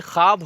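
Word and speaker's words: خواب: अब ये देखिए, देखो खुश आमदीद जो खुश होता है, ख्वाब होता है, ख्वाहिश होती है, ये ऐसे अल्फाज होते हैं जिनमें वाव बना होता है जिसका उच्चारण नहीं होता है, वाव साइलेंट होता है।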